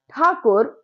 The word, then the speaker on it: ठाकुर: तो कविता है आत्मत्राण, जो कि लिखी है रविंद्रनाथ ठाकुर ने। अब आप बोलोगे ये ठाकुर है, कहीं कहीं टैगोर है, तो आपको ये बात पता होनी चाहिए, ठाकुर और टैगोर दोनों एक ही है।